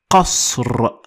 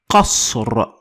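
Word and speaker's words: قصر: Last example in this instance is going to be qasr. Qasr.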